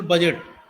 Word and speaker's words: budget: जैसे कि for example बजट, जो अगर आप बजट का स्पेलिंग देखिएगा तो BUDGET है, तो वहां पर डी साइलेंट है।